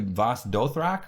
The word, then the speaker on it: Vaes Dothrak: She's being marched down to Vaes Dothrak, right?